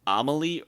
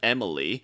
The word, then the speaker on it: Amelie: on the west coast named Amelie or Amelie or Emily it really depends on which voice actor you're talking Oh all pronounced differently like